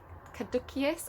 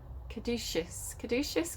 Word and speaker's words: caduceus: stuff right it's the caduceus i pronounce it the hard see and i don't think i think it's a saucy but i just can't say it that way could do caduceus um i was taught